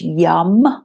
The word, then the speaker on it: Yam: So it's Y-A-M, but pronounced Yum, Y-U-M.